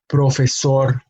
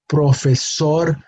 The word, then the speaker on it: profesor: el lugar profesor mujer this column has words with an emphasis on the last syllable but because they end on a consonant other than N or s they are expected to have the emphasis on that last syllable so we do not